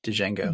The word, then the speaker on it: Django: We got a Tarantino, we got Django. D is All D D is is silent.